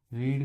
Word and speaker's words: read: क्या लगाएंगे इज नॉट रीड का रीड ही रहेगा लेकिन बोलते हैं इसको वो रेड है तो रेड की मीनिंग तो सेम स्पेलिंग सेम रहती है।